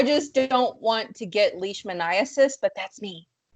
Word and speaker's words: leishmaniasis: So again, it's not whatever you butchered it to be. It's leishmaniasis.